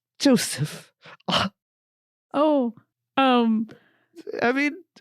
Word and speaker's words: Joseff: last name oh well first of all it's pronounced Joseph Joseph no Joseph Joseph Joseph with two FS